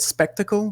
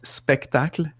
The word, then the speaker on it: Spectacle: is people call it spectacle but it's in the title it's you need to pronounce it a la french so it's spectacle see if i if